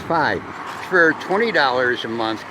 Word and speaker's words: Fi: uh I'm getting a Nexus 6p and project five in other words that's capital f i I thought it was fi but as I've heard watching the watching and listening to the YouTube tutorials it's pronounced five for twenty dollars a month gives me Unlimited